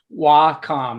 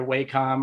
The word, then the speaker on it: Wacom: and Comm is a derivative of computer so w com that's where it comes from but we always love it when you pronounce it either waycom or whack them that's always cool too um we're offering a